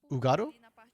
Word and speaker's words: Hugado: The H is silent, so it's Ugado?